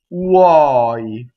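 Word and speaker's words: tuoi: So this word does not rhyme with boy in English. I hear all the time, ttuɔi. No, it's, let's break it apart.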